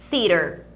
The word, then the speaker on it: theater: Movie theater. Movie theater. Movie theater. Movie theater. Então, ó, esse theater aqui, lembra do TH que eu já cheguei a comentar com vocês em outras aulas?